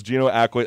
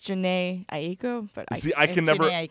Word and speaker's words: Jhené Aiko: I know it's Gino Aiko. I can never pronounce it. Oh, it's okay. I think it's Jhené Aiko.